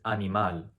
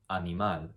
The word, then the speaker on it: animal: The correct answer is animal, animal. Second word, alcohol. How would you pronounce alcohol in Spanish?